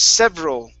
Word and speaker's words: several: Let's go to the word several. Okay, remember the E, yeah, that E is silent. Several.